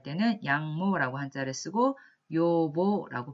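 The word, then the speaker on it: 養母: 그에 반해서 양어머니, 양모라고 할 때는 양모라고 한자를 쓰고 요보라고 발음을 하시면 되겠습니다.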